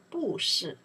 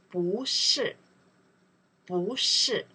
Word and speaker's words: 不: In that case, we say 不是 The reasons 是 is four tones. 不 after next character, if pronounced four tones, the 不We don't pronounce the four tones. We don't say 不是 We change the tones. Second tones. We say 不是 Okay.